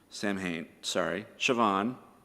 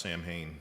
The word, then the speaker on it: Samhain: The end of the Celtic year, Siobhan, that's going to take a minute. The Wikipedia says it's pronounced Samhain, so it's Yeah.